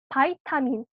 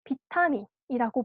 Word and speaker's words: 바이타민: 많이 흔히 부르는 말로 비타민이라고 부 는 겁니다 부르는 영양소입니다 어 비타민이라고 부르기도 하지만 미국식 영어로 발음을 하게 되면 바이타민 되어 있으 그 교과서에도 어 되어 있으니까 바이타민 알고 있도록 합니다 바이타민 특징은 되게 적은